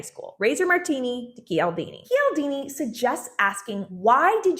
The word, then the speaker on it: Cialdini: While I was editing this video, I realized I have been saying Robert's name wrong my whole life. It's Robert Cialdini.